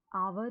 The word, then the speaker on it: our: क्या बोलेंगे, आवर या आर, असल में ये दोनों ही सही हैं। आवर भी सही है और आर भी सही है।